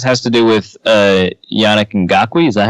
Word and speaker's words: Ngakoue: I think some of this has to do with Yannick Ngakoue. Is that how you pronounce his name?